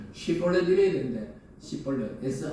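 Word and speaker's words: 쉽볼렛: 딱 발음으로 하는 Պ릿 이렇게 sh 발음 쉬볼렛 이래야 되는데 볼넷 si 발음으로 하면 딱 잡아 가지고 그냥 목을 쳤다는 거예요.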